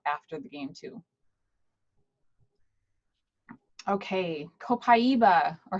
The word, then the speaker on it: copaiba: Okay, copaiba, or how do you pronounce it, Crystal? I kind of flop between the two, copaiba and copaiba. I think I say copaiba more often because I'm lazy. Right, one less syllable.